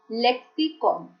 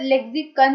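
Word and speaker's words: lexicon: Friends, first word है लेक्सिकॉन। यहाँ पर लेक्सिकन नहीं बोलना है, इट्स लेक्सिकॉन। ब्रैकेट में प्रोनाउंसिएशन रिटन है।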